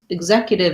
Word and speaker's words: executive: that so the beginning we have second syllable stress so this is executive is an ex that says the i the z sounds so importantly it's voiced ex and so you want to have that z sound as you move into